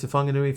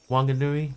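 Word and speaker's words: Whanganui: places they say that you should pronounce something like Wanganui Wanganui with an F sound. Now it used to be just with a W. Wanganui, but now they're saying it should be an F.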